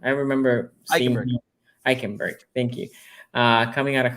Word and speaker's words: Eichenberg: I can't pronounce his name. I remember seeing Eichenberg. him. Eichenberg.